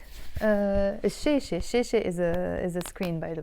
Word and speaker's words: الشاشة: So in this case, الشاشة, we pronounce it as الشاشة because it starts with the letter sheen, and sheen is a sun letter.